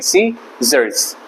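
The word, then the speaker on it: scissors: उसके बाद सिजर्स, कैंची को बोलते हैं सिजर्स, तो यहाँ पर सी साइलेंट है, SIC जर्स, इस तरह लिखेंगे, इस तरह बोलेंगे सी जर्स, सिजर्स, ठीक है।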